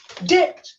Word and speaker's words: debt: speak doubt, fine, when he should say doublet, debt, when he should pronounce debit, D-E-B-T, not D-E-T.